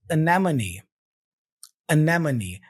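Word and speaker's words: anemone: you can see here we have a schw sound at the beginning uh and another schw sound here after the m m so so anamon also notice that I have this little apostrophe here before the syllable NE all right this shows me that the stress syllable is the n syllable so when you look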